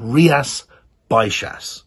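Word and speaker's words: Rías Baixas: is a wine from a region called riyas baishas now it's spelt b-a-i-x-a-s you're in a region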